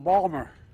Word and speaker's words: Baltimore: By the way, folks, I say to my dad, "Dad, they're mispronouncing Balmer."